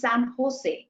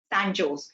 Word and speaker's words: San Jose: california and it's spelled s-a-n-j-o-s-e and j is actually pronounced ho so it's pronounced san jose instead of san jose which is what most